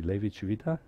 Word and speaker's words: Levi-Civita: Levi Civita? Yes? Civita, okay. So you should put it in the emphasis on the first.